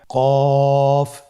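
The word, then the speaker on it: قاف: কফ উচ্চারণের ক্ষেত্রে অবশ্যই 3 আলিফ টেনে পড়তে হবে।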